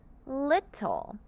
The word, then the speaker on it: little: see we're going to read the two T's as a singular T and the l e makes the sound when it works together at the end to make the word little for example my little